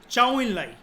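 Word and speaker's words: 周恩来: इसकी प्रोनाउंसिएशन है चाउ इन लाई।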